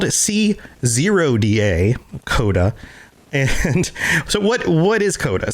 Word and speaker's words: C0DA: All right, so Coda, and it's spelled C0DA, Coda.